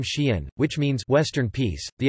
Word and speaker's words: Xi'an: The apostrophe known in Chinese as a Zhe Yin Fu Hao, Zhe Yin Fu Hao should be included to distinguish its pronunciation from the single syllable Xi'an.